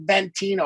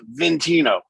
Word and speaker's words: Ventino: So my son's name is Ventino, but it's spelled V-E-N. So everybody goes, "Oh, Ventino." I'm like, it's Ventino. Yeah. Like, it's spelled vent.